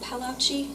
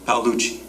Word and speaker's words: Paluchi: Is it Palacei? Paluchi.